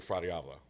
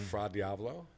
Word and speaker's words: Fra Diavolo: They're Fra Diavolo.